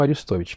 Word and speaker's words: Арестович: всего я надо уточнить потому что ударение арестовича или арестович я не знаю и ни в коем случае нельзя обижать всё-таки по-моему аристович первое второе если человека